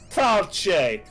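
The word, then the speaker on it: fáilte: Falche. Look up falche in Irish. It's spelled fal. Where's the che part come in?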